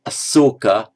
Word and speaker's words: Asoka: King Ashoka, spelled with that one, Ashoka, would be pronounced as Asoka in Pali.